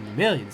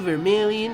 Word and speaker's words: Vermilion: I'm headed to Vermilion City. Kinda rhymes with Viridian City, but it's got an M in it. Like Eminem.